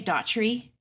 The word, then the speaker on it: Daugherty: Terry I'm gonna say Daughtry because I just know that if I try to say it either way other than that I'm gonna mess up so um I apologize if I if I don't say it right but Daughtry's where it's at like the band thank you Brooke I'm